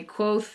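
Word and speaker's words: Kvothe: Now, I've heard some people pronounce his name in different ways. Some people say Qu. Um it is spelled K V O T H E.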